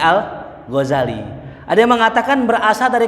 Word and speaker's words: al-Ghazali: pertama maknanya Godzilla daerah Al Ghazali orang Ghazali Al Ghazali dibacanya Al Ghazali ada yang mengatakan berasal dari kata Ghazali yang